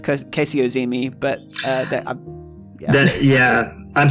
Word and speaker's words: Kasey Ozymy: But I think um uh and I've I've been uh mispronouncing your name this whole time. It's Casey Ozi, but uh that Yeah, I'm sorry.